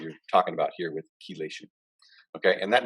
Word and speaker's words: chelation: this process we call chelation that's how you pronounce that chelation okay and the thing that does that is